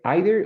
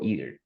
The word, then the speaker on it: either: Bueno, tiene either o either. Una de las dos pronunciaciones, la que quieras.